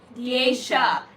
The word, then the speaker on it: Diasha: It's not Asia. It's Diasha. That's why I said it's a hard SH.